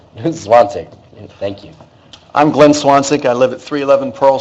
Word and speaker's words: Zwanzig: I'm Glenn Swansek. I live at 311 Pearl Street. Last name is spelled Zwanzig.